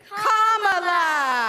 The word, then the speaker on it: Kamala: First you say comma like a comma in a sentence. Then you say la like la la la la la. Put it together and it's 1, 2, 3, Kamala.